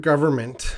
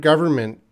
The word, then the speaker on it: government: So to the word government, some areas, some regions, English speakers pronounce the N a little bit reduced, and some areas they do not pronounce the N. So there is no strict rule about the pronunciation of government.